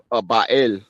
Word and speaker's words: Baal: Okay, Baal or Baal in the Bible, but Baal is how it's pronounced. Baal, Ba, and then El.